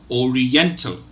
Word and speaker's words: oriental: about it so but the these the stressed syllable is the third syllable n so Oriental Oriental